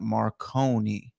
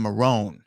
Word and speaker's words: Moroney: heads up to brad my name rhymes with stone not marconi oh so jason marone and not marconi okay thank you jason